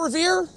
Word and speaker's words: Revere: No one could seem to pronounce Revoir in New England. He had that nasally accent and, the drop in the I's, and, it just becomes Revere.